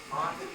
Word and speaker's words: Marty: Well, I don't know how good looking I am, but I know that John sure pronounces my name nice, Monty. That's, in America, it's Marty, which just doesn't sound as good.